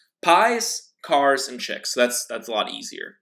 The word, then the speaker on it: Piekarczyk: back to the topic my last name is pronounced PI's cars and chicks right it comes up all the time how do you pronounce your last name pies cars and chicks that's that's a lot easier right I'm the